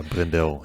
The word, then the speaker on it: Brendel: And it reminds me too, in one of the interviews you had with Donna Brendel. Is that, I'm bad at pronunciations. Yeah, Brendel.